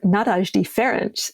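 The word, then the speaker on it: Nádasdy Ferenc: the good pronunciations um Fen NAD or nadash feren if you want to do it the Hungarian way good old par me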